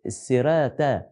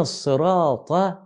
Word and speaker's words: الصراط: واحد بيقراها مره مره مره ادينا ادينا ادينا السرات التاء طبعا الكلام ده لما تسمعوه بقى من الشيخ اشرف عامر ولا الشيخ البصراطي ولا الكلام ده الشرح هيكون افضل اهدنا الصراط صراط يعني خلي بالك من من اهدنا الصراط